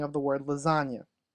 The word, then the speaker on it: lasagna: spelling of the word lasagna lasagna is not said the way it is spelled the word is spelled with a silent G without having a good